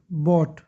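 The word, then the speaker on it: bought: खरीदना, बाय, बॉट, टी से पहले जी साइलेंट, बॉट।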